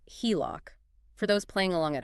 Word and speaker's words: HELOC: for home equity line of credit and it's pronounced HELOC for those playing along at home think of